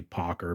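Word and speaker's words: Pocher: as as well um so I try to say pocker because I think that's actually the correct pronunciation for it but anyway I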